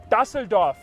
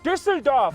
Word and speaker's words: Düsseldorf: Some people call it Düsseldorf. When it is called Düsseldorf.